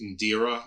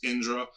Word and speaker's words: Indra: And Indra is um we probably pronounce it here on when it's anglicized as Indira or we think it's that's but it's Indra and Indra is the